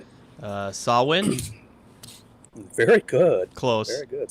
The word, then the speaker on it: Samhain: Samhain. Very good. Close. Very good. Samhain. Like, I think the first half of the word they say either rhymes with cow or actually is a female pig. Samhain.